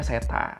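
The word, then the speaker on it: Srettha: Bapak ini namanya setatawisin tulisannya kalau di media-media tuh pada sereta ya Tapi bacanya setan Terus di media-media kita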